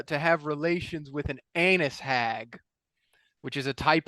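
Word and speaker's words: Annis: called there's no way it has to be pronounced like anise and then we went and looked at it and it was anus even though it's not spelled that way it's spelled like a-n-n-i-s that's for yeah to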